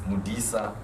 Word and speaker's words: Modisaotsile: know my surname happens to be how to pronounce for some reason which isn't i mean it's modisa yes that's what it is people just happen